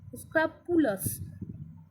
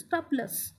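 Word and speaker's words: scrupulous: উচ্চারণটা দেখেছো, SCRU, স্ক্রাপুলাস, LOUS, স্ক্রাপুলাস, বিবেকী বা সতর্ক যে।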